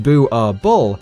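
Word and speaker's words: Boerboel: Boerbul, pronounced Boo-ar-bull, is a Dutch Afrikaans word for farmer's dog.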